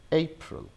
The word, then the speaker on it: April: So the exact pronunciation is April, April, April.